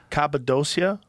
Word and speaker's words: Cappadocia: Cappadocia, Yeah.